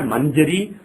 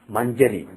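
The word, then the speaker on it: मञ्जरी: four letters for example if you have manjuri let's say it's not mangeri or mamjari it is manjari that sound that came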